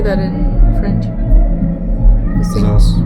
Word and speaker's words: Zaz: Zaz. Zaz.